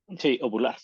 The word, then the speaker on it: ovular: ovular si no puede ular puede tener hijos no no se dice ovular así se dice ovular ovulación Entonces entonces es